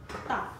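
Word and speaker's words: 大: Di kita perlu sebut T. Tak boleh. Kita tak boleh sebut dah, tetapi kita perlu sebut tak.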